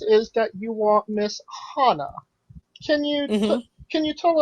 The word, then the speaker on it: Hannah: german names you can get and um it's pronounced hana but if you go to like england or like australia or anybody that's you know obviously like english speaking they think it's hannah and i'm like no it's hana and what's